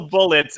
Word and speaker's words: Bullet❤️: the heart symbol and bullet it's actually not pronounced so the game is actually just called bullet yeah but in the